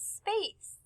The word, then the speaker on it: space: The word space has the soft S.